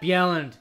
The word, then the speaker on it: Bjelland: cat Yellen that's how you pronounce it it's pronounced with a y not a j but um there's a